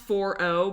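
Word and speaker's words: 4o: like four is O I think it's an O and not a zero right I think it's pronounced four o but it's like yeah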